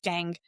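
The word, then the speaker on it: Goethe: And so I'm going to keep it short and I'm going to use a quote from the great writer Johan Wolf Gang von Ga. It's spelled goth.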